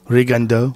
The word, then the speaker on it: Rigondeaux: I thought it was Rigondeaux. I don't think so. Rigondeaux? I think it's the way you pronounce it in French is Rigondeaux.